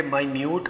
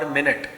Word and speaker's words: minute: بچوں اس کا آپ نے خیال رکھنا ہے کہ مائنیوٹ اور منٹ جو ہم 1 منٹ بولتے ہیں 2 منٹ